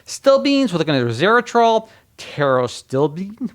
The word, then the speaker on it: pterostilbene: We're looking at resveratrol, pterostilbene, which you see the PTR. So it's pterostilbene.